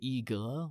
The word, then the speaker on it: 一个: And then I got there and I said, E, because I don't think I even knew how to say "iga," which is how you say I want one thing.